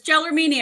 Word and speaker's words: Gelormini: Yes, it's Gelormini.